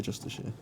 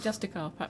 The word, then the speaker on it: Justiciar: J for Justiciar. I wasn't. Did you say Justiciar? That's how you say it. Oh, I've always said it Justicar.